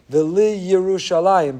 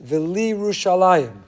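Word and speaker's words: ולירושלים: They say V'liyerushalayim, but that's not the word. That's incorrect. The word is V'liyerushalayim. So there is no shva under the yud. It's not V'liyerushalayim. It's V'liyerushalayim.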